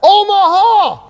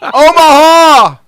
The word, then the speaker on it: Omaha: coach one more time it's kind of three syllable it's rhythmic right from the diaphragm omaha gotcha gotcha see you in omaha yes yes my ears are hurting omaha you gotta do it three syllables come on not just anyway